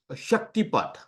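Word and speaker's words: Shaktipat: are doing it have you heard about uh Shakti paath no uh so it's spelled s h a k t i p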